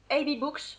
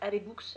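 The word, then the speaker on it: AbeBooks: bien sûr, j'ai reçu un email du site AB Books. Alors je pense que ça se prononce comme ça, ça s'écrit A-B-E-B-2-O-K-S, AB Books, AB Books.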